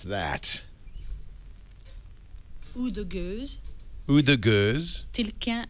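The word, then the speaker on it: Oude Gueuze: Frederic, how do you pronounce that? Ou de Goose.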